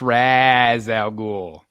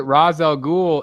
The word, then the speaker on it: Ra's al Ghul: from Tennessee so well they pronounce it Raz Al ghoul in the movies so you know I